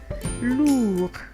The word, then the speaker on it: lourd: Why don't you try and pronounce it? We have another example like lourd.